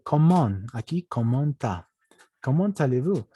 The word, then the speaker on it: comment: Aquí abajo hay choque de consonantes, así que la T no se pronuncia porque hay choque de consonantes. Ahí la T se dice comment.